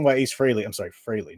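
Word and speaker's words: Frehley: The reason why Ace Freley, I'm sorry, Freilley, not Freley, Freilley, uh, passed away, I said Ace Freely all in high school growing up.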